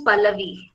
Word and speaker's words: Pallavi: My name is Pallavi, and it's V-I, okay, V for van, and I.